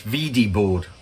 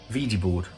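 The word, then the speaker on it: Wedi board: out you say it's vd board because w in german in german is generally spelt uh it's pronounced with a v so um vd board somebody's still um stuff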